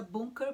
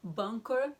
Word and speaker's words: bunker: Eu quero deixar bem claro aqui que eu falo sempre a pronúncia bunker, porque a pronúncia em alemão, bunker, também está certo, mas é a pronúncia em inglês.